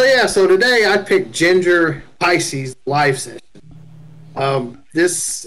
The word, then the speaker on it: Jinjer: into that and that that's how you pronounce it it's ginger yes i like that